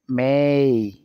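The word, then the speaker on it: may: উচ্চারণ এই হয় অর্থাৎ শব্দের শেষে যদি এ ওয়াই থাকে তাহলে উচ্চারণ হবে এই যেমন এখানে দেখেন ডেই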